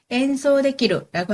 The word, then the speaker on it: 演奏できる: 엔소데키루라고 하는 건요, 엔소스루, 연주하다의 가능형입니다. 그래서 연주할 수 있는이기 때문에 엔소데키루가 된 거고요.楽器가 악기, 발음 비슷합니다.楽器와 아리마스까, 있습니까가 됩니다.